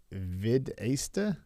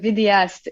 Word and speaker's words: vidéaste: Videsta? Oh, vidéaste.